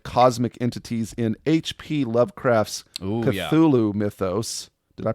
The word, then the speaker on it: Cthulhu: The honor goes, however, though uh to the gallery of cosmic entities in HP Lovecraft's Cthulhu mythos. Did I pronounce that correctly? Cthulhu.